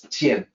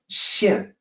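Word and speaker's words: 見: like GN but it's Tien more like an e sound not like an a sound here in this line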